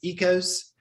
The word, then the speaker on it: Oikos: that well that um the brand um oikos is actually pronounced ecos and it's not really